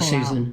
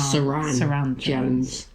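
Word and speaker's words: Suranne Jones: Don't get her name wrong because we'll call her Susan. No, Saran Jones.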